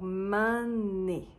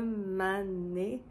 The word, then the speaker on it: m'ment n'nné: And the D becomes an N. So, instead of "donné," "d'nné"... "D'nné" is hard to pronounce. We just say "N'nné." So, "m'ment n'nné." "Un m'ment n'nné."